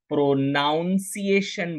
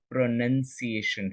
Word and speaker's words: pronunciation: wrong प्रोनंसिएशन is wrong कुछ लोग इसे प्रोनाउंस एशन बोलते हैं सी द स्पेलिंग प्रोनाउंस एशन नहीं है प्रोनंसिएशन है सो इफ योर प्रोनंसिएशन